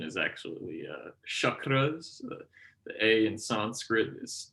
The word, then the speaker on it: chakras: you often hear pronounced chakras in the west the correct pronunciation is actually uh chakras the a in sanskrit is is pronounced like the u in cup believe it or not